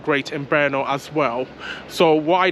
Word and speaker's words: Brno: as well so it's spelled b-r-n-o and it's pronounced Bernal bear now um so um yeah feel free to come